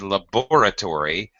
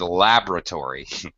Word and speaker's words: laboratory: talking about drop syllables the first time you said it you said laboratory and the second time you said it you said laboratory the second time is better you didn't pronounce it the same both ways the second way is better Laboratory drop that syllable you're going to gain